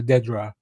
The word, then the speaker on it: Dedra: get a shot of Andidra or Dedra. Uh I believe it's Dedra after after somebody pronounced it in the show.